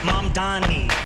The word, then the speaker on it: Mamdani: MANTA The name is Mamdani.